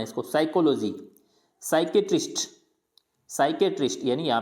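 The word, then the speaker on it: psychiatrist: Silent होता है, अगर एस से पहले पी आ रहा है तो वो हमेशा साइलेंट रहेगा। जैसे एस से पहले पी आ रहा है साइकोलॉजी, पर साइको नहीं बोलना है इसको, साइकोलॉजी, साइकेट्रिस्ट, साइकेट्रिस्ट, यानी यहाँ पे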